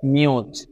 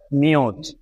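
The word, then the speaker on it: mute: সুতরাং এম ইউ টি ই মিলে হয়ে যাচ্ছে মিউট মিউট। কিভাবে হলো? কারণ আমরা জানি শব্দের শেষে যেহেতু ই আছে তাই তার কোনো প্রোনাউন্সিয়েশন বা উচ্চারণ হচ্ছে না। এভাবেই কিন্তু এম ইউ টি ই মিলে হয়ে যাচ্ছে মিউট মিউট।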